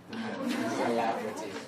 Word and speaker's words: celebrity: Trong từ này chúng ta chỉ có nhấn vào âm giữa thôi.